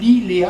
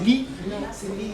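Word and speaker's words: Lea: Et le gars s'appelle Larry, L-E-A, c'est Lee.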